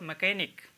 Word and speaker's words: mechanic: और फिर MECHANIC, ये लिखा हुआ है मैकेनिक, ठीक है, इसको मैकेनिक नहीं पढ़ेंगे, इसको पढ़ेंगे मैकेनिक, यहाँ पे H साइलेंट रहेगा, तो इसका मतलब होता है मिस्त्री, मैकेनिक तो आप जानते हैं मिस्त्री होगा।